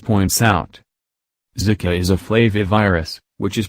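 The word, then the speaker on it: flavivirus: Foundation as PBS points out zika is a flavy virus which is pronounced a bit alike flavor flavy virus most viruses in this family are carried by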